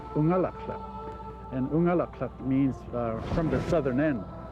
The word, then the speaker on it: Unalakleet: A lot of people think that Unalakleet means where the east wind blows, but the word Unalakleet is actually an Inupiaq word pronounced Unalakleet.